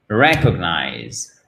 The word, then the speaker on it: recognize: Ben, c'est sur cette première syllabe qu'on va avoir notre accent tonique, ce qui nous donnera recognize, recognize, OK?